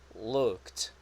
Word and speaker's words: looked: pronunciations of this words this is looked looked this is like okayer this is like a long o sound look after that you have the C and after that you have the T sound looked and for this verb we don't say the a sound we only say the